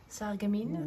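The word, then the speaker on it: Sarreguemines: Sargamine.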